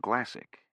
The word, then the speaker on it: Glassick: another moment, was Brian Glassick, which rhymes with classic, which describes these cars.